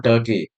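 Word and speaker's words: Tukey: Originally this particular method is developed by John Turkey sorry yeah okay R is not there actually R is silent here in 1970s itself.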